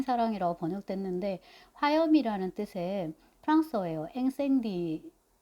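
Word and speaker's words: Incendies: 앵생디 아마 S 발음이 안 될 것 같고 근데 이제 복수형인 거죠.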